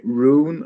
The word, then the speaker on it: Rune: thank you very much call me roon or something like that in forum language because uh it's spelled like are you and yeah it is